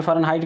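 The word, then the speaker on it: Fahrenheit: यहाँ पे फ़ारेनहाइट का स्पेलिंग क्या है?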